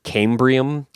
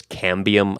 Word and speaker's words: cambium: of a tree and I kept calling it cambrium but the actual word is cambium I don't know why my brain kept saying cambrium I think I was mixing Cambridge and cambium somehow uh but anyway